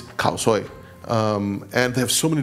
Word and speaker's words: Khao Soi: Most Indians know this as a Burmese dish, and the actual name and pronunciation is Ono Khao Sui. Whereas in northern Thailand, where it's equally famous, especially in the city of Chiang Mai, it's Khao Soi.